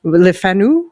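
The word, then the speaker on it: Le Fanu: Uh, for example, Joseph Sheridan Lefnau Lefanu I guess it's pronounced and is the writer of Carmela, this this really famous uh lesbian vampire novela.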